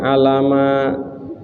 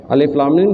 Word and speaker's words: Alif Lam Mim: satu huruf misalkan nih aliflamim bukan dibacanya Alama salah Alif Lam Mim dibaca alamat Salah alamat nanti gitu ya alif.lam.mim insya